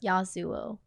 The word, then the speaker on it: Yasuo: sOooo is how you say yeah Yasuo okay Yasuo I say that's how you pronounce it yeah I'll see what you think